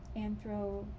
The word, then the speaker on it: anthroposophy: Romero, maybe her name's Romero, yeah, talks a lot about, I know there's a Rudolf Steiner anthroposophy, is how you say it, person named Lisa Romero, but this is Lisa A.